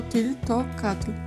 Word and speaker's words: Tliltocatl: Na szczęście okazuje się, że to pierwsze L jest nieme, więc po prostu pomijamy je w wymowie. W takim razie wymawiamy to słowo jako tiltokatl.